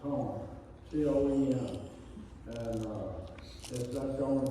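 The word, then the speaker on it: Caen: They pronounce it Cone.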